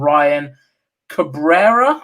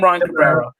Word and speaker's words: Ryan Cabrera: out to her and ryan cabrera i believe is how you pronounce his name ryan cabrera so um massive congratulations